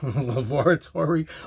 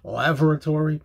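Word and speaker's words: Lavatory: getting everybody crazy a song called i'm gonna pronounce it two ways laboratory lil l-a-v-a-t-o-r-y lavor lavoratory laboratory laboratory lil kind of like uh polythene pam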